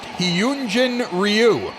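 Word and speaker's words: Hyun-jin Ryu: I think I had the name wrong at first. Hyunjin Ryu.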